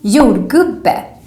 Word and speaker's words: jordgubbe: But then in words, it sounds more like a Y sound. For example, a little bit like the English word yes, Y. Like in this word, ja, yes, and jordgubbe, strawberry.